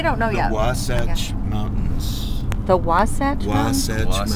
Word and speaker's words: Wasatch: The Wasatch Mountains. The Wasatch Mountains? Wasatch Mountains. Can you spell that, Joe? W-A-S-A-T-C-H.